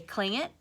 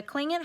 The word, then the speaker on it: Tlingit: Doesn't look like it's say culling it, but it does. So that T does not make a T sound like we say T, okay?